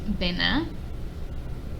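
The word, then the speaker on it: Bénin: country in west africa in french it's pronounced bina like most other countries in west africa that speak french it was colonized by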